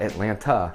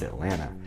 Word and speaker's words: Atlanta: number 19 it's called atlanta yes i know there's a second t at the end but we don't pronounce it so it's not atlanta it's atlanta and i don't know